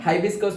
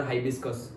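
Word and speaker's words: hibiscus: तो हबिस्कस बोलते हैं, हिबिस्कस बोलते हैं। फिर हिंदी में गुलमर बोलते हैं। अलग-अलग नाम है उसके। ओके? सो लेकिन पर्टिकुलर इंग्लिश तो हिबिस्कस और हाइबिस्कस। ओके? जो भी प्रोनाउंस करें वो उसका नेम है।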